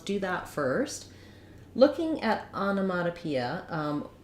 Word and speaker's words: onomatopoeia: that first looking at onomatopoeia um let's break it so the first syllable on has the clear a vowel Ana then our next syllable letter O has a reduced vowel sounds like uh so we have a